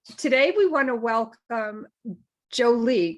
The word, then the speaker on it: Joli: we want to welcome jolie correct jolly isn't happy jolly that's right i remember that conversation because i i that was such a tongue twister i was like jolie jo no it's jolly